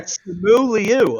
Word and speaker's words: Simu Liu: No, I looked up how to pronounce it before the episode started. Okay, that is how you say it. Yeah. Simu Liu, all right?